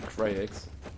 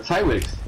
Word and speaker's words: Cyrex: Ja, weißt du, dann zieht der Alex erstmal eine Krayx. Oder Krayx, keine Ahnung, wie man das ausspricht. Warte, da spricht man wie aus. Cyrex. Cyrex, genau, Cyrex war es.